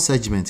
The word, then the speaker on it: segment: Esther says, so that's Nigeria pronunciation. So all of you are wrong now. You're trying to sell me the Nigeria pronunciation. It's called segment here. Segment. Okay? Kind of like we don't say develop here. We say develop. Right?